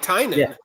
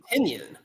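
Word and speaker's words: Tynion: it is it no you said it right tinan tinan right because I know he has his company tiny onion so I'm like I'm wondering is is I hope that's not how you pronounce I've been pronouncing a tenyon tenyon good you know and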